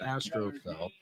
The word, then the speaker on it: Astrofel: Mi Mr. Astroofel pronounced Astrofel means star lover.